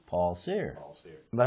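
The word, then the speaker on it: Cyr: Paul Sear. Paul Sear. But how do you spell it?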